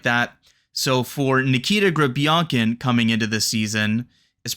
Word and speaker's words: Grebenkin: e and things like that so for Nikita granin coming into this season is pronounced like that in Russia but we'll probably be saying Nikita grankin before long but for today's show we're still